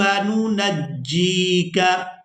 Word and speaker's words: نُنَجِّيكَ: آن۔ وَقَدْ عَصَيْتَ قَبْلُ وَكُنْتَ مِنَ الْمُفْسِدِينَ فَالْيَوْمَ نُنَجِّيكَ نُنَجِّيكَ۔ یہ لفظ بھی تھوڑا ڈیفیکل ہے، اس کے بھی ہجے کریں گے۔ نون پیش نو، نون جیم